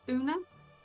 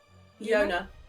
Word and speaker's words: Yona: So that is a D4 to attack rolls and saving throws for Tink, Sev, and was it Una? Yona. Yona, that was it. And right letters, wrong pronunciation. It's all right.